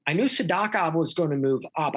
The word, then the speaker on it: Sidakov: He says Sadakov. I'm going to say Sadakov. I said Sidakov forever. Mm-hmm. I'm going to follow Beloglatsov there. I'll say Sadakov. So I knew Sadakov was going to move up.